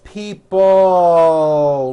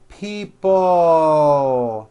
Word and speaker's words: people: this last word people it's not pronounced people with your tongue not moving it's people with your tongue slowly moving up and your jaw remaining down stretch out that L sound people like that here are